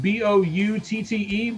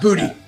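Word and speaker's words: Boutte: Bouty, I think. Yeah, we we'll go with that. Um, bout, not booty. Bout.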